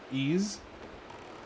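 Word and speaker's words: Ys: And to clear any confusion, why is this pronounced ease?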